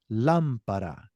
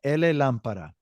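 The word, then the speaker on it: llamar: so we got lampar now the Double L primarily in most countries Argentina it sounds like a J ja jaave but most countries will pronunciate it like a y so y yeah definitely not a la La it's not La it's y that that double L's y y so we're gonna say a y everybody some countries might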